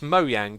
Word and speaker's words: Mojang: It really annoys me that I get comments over and over again that say, oh, it's Mojang, not Mojang, or lol, you said Mojang. It's pronounced Mojang. The people who made the company call it Mojang. It's as simple as that.